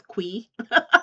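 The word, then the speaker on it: Qi: The biggest reveal is that we finally know how to pronounce Mr. Key as Quee.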